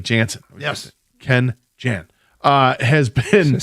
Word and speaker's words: Jansen: Kenley Jensen has been Kenley Jansen.